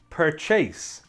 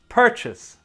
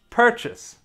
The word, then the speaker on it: purchase: as you can see it has two syllables and the stress is on the first syllable so it should sound like this purchase purchase per chess per chis